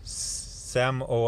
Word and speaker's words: Samoa: and I felt great is they go to Samoa or Sam oh uh as they pronounce it here and you get to meet